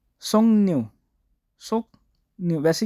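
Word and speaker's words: 석류: तो काफ और राब का जब ये आपस में मैच होता है तो सोंगन्यू, इसको न करके पढ़ा जाएगा, सोक रियू नहीं पढ़ेंगे, सोक रियू भी समझ लग जाएगी ना, लेकिन सोंगन्यू। जैसे इंग्लिश के अंदर कुछ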